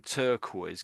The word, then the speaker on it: turquoise: So really, when I'm saying turquoise, can you even hear the R sound? It's so dead. It's not really there, I would say.